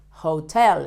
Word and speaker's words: hotel: Sorry, hotel in Spanish is hotel. It's not very difficult to know. But the pronunciation is different. Remember, in Spanish, the H shouldn't be pronounced.